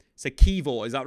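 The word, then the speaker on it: Kiwior: So Kivor, is that right?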